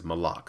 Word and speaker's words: Malok: end boss is uh Malik yeah or is it Mal is yeah they made sure they uh made everybody aware the correct pronunciation is malok so all you people